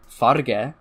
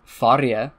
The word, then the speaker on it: verje: Another word with an interesting history, the word in my idiolect, it's verja. Other people pronounce it farge. Some other people pronounce it farje. Some more other people pronounce it varge.